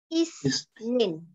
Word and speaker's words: Isnin: Okay, please catch up the pronunciation. Yeah. Isnin.